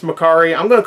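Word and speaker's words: Mercari: also got a makari pickup i know it's pronounced makari i'm going to call it mercury though because i know that upset somebody and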